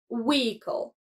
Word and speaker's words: vehicle: In standard English, we often skip the H sound, making it vehicle.